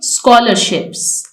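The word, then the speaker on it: scholarship: highlight करना है और यह हमारे पास ट्राय ग्राफ है जो कि स्क की साउंड हमें दे रहे हैं स्कॉलरशिप क्योंकि अगर यह डायग्राफ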